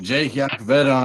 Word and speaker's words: Iacovetta: You can find me at Jake Yakavetta on Twitter, even though none of y'all can fucking spell it or say it right.